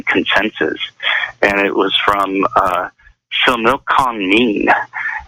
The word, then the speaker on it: Similkameen: It was a 2013 consensus, and it was from Similkameen, and that is Similkameen. And it's pronounced Similkameen, okay?